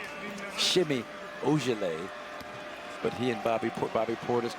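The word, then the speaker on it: Semi Ojeleye: I used to call him Semi-Ukulele. I realized Shimmy Ojale.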